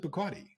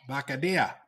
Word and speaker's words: Bacardi: yeah, and he never pronounced it Bacardi. How did he say it? Bacadilla. Oh, Yeah.